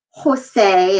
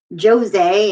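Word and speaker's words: José: don't say hola okay the j actually makes the or the hota rather makes the ha sound think of your names like juan and jorge and jose and let's get some girls in there juliana and josefina they're not going to be jose and georgie and juwan you get the point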